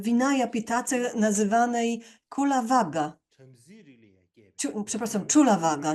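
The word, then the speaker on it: Cullavagga: Czulavaga, nie Kulavaga, Czulavaga to trzeba wymawiać.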